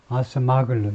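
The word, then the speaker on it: Acemoğlu: 데런 아시마글루, 여기가 이 사람이 이제 터키 사람이어서 발음이 좀 이상한데, 여기 이쪽에 액센트가 있어가지고요. 그래서 액센트가 있으면 나머지는 전부 모음 발음을 없애면 됩니다. 그래서 아스마글루 이 정도죠.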